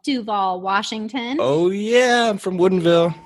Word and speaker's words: Duvall: super small town called Duvall Washington oh yeah from Woodinville yeah it is Duvall accent on the do not Duvall no because